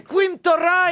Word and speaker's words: Quim Torra: Et à côté, Torah, ça s'écrit comment? Théodosera. Ah, 2 R. Mais c'est en espagnol qu'on est con. C'est Quim Torra, et ben c'est le mec qui va remplacer.